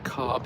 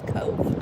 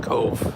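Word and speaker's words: Cobh: We're looking down on the Cobb Heritage Center which includes uh Cove Cove. Sorry, I said it wrong.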